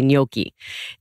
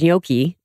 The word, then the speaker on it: gnocchi: So like thumbprints, AKA gnocchi. And the word gnocchi, it's hard to pronounce, you know, because of the GN, it's silent, and it's like how to pronounce it.